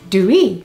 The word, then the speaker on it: dooey: In Polari, it is pronounced due.